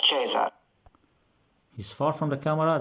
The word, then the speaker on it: Caesar: Classical Latin was always pronounced like a K. You can see now he's far from the camera. So it's Cicero, not Cicero. He's far from the camera now. Caesar, not Caesar.